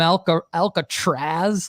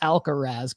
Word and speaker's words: Alcaraz: He called him Alcatraz, like the prison. No, my friend. Carlos Alcaraz comes back, wins Wimbledon.